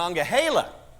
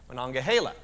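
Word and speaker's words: Monongahela: it alagan and mangila or do you all pronounce it a different way around here okay now what Mana mananga Hala okay see I I wanted to make sure I get that right okay manonga Hala very good May 24th about 60 miles away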